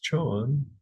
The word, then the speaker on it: Chan: So in China, it was pronounced Chan.